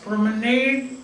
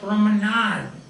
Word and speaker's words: promenade: therefore the time being promenade can pronounce it just promenade or promenade it's a french word meaning a space for